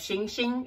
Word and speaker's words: Xing Xing: the company by the name of Shing Shing it's spelled Xin Jie Xin Jie you can actually